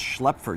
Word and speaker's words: Schlepfer: Twin Lakes Church, last name is pronounced Schlepfer. It's pronounced Schlepfer.